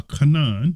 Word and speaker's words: Canaan: him and he said cursed be Canan a Canan that's how you say it a slave shall